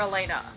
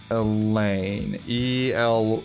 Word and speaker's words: Elayne: Okay, Elaine or Elena? Elaine. Elayne. Okay, and you're asking where from and how it's pronounced?